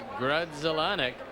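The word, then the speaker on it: Grudzielanek: there's father and son looking on his mark grudzellonick comes on after a big year at harrisburg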